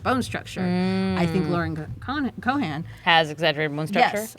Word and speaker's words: Cohan: Cohan.